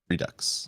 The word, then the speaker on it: Redux: Redux or Redo? How do you say it? Redux. Okay, Redux. And then Ember Early Access.